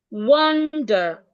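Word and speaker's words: wander: W A N D E R has the O sound. Wonder. O as in orange.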